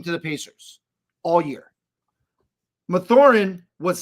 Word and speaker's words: Mathurin: How do you say his name? Mathurin.